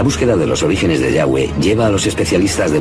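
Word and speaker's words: Yahvé: son y hw etc pensamos que probablemente se pronunciaba yagüe o algo así pero ya ve solo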